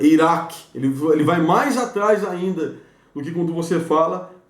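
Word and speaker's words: עין: O Ain, ele é mais faríngeo mesmo, né? O Ain, ele é mais faríngeo, então ele não usa tanta laringe, mas usa a faringe. Você fala Ain, você já percebe que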